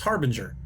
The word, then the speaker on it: Harbinger: I would say hard Bringers but it's Harbinger I apologize I I know it's one of those things that I just the first time I saw it I miss saw it and I've been mispronouncing it ever since I'm Gonna Leave This